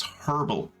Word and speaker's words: herbal: still let's get an herbal compress on it just in case horrible herbal I get that you're American and you don't know how to pronounce the letter H but it's pronounced herbal it just figures you'd